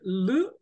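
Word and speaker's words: ऌ: That after ru, is it lu or lru? Lu. L. Okay. And So, like as in cliptam, L. It is a vowel.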